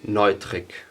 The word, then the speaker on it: Neutrick: it, the XLR stuff is from Newtrick. It's written Neutrick. In German you would say Neutrick.